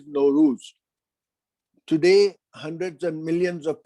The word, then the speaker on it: Nowruz: We have another word that rhymes with Nimruz, and that is Nowruz.